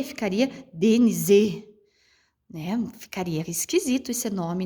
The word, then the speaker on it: Denise: Denise. Né? Então dá para a gente perceber que quando eu falo Denise, esse ni, ele se pronuncia mais forte.